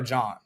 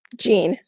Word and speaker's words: Jean: The only people whose names are pronounced John when it's spelled that way are usually Haitian. Like Haitians have it's spelled that way, but it's pronounced like Jean, because obviously the kind of French exactly origin.